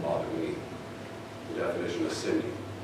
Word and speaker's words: Siemion: Our last name is pronounced Siemion. Dad corrected me forever, and so I got used to saying Siemion. Siemion.